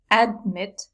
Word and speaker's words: admit: so we don't say admit we say admit the stress is on this valve this is the important